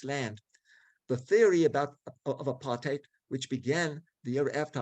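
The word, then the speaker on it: apartheid: South Africa was the country of apartate or if we use the German and American pronunciation apart height. The word aparate is an Africans and Dutch word meaning segregation.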